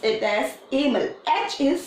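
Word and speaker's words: Hamel: but you are going to pronounce it as Amos HP is silent he is a teacher of French teacher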